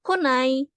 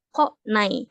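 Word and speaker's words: 来ない: ini ditambahin belakangnya hiragana Jadi dibacanya bukan kunai tapi kok naik ya kalau untuk yang versi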